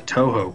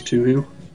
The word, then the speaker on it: Touhou: this is a Pokemon game this is the Touhou region this is a hardcore you're gonna say this is Touhou this is Touhou this to you that's how I pronounced it at first whenever